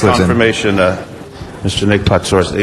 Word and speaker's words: Patsouris: Pronounce it the Greek. No, I'll let you. You learned it. Patsouris. All right. I mean, the way you pronounced it was wonderful. But I have a Patsouris. Patsouris. Only the mayor can pronounce it correctly.